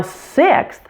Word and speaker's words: sixth: for you faith now sixth also has a short I sound just like v so relaxed that I sound for this word too and note that the X is actually made up of two different sounds it's a K and